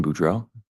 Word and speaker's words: Boudreaux: morning morning can you state your name and spell it for the record my name is budra Buro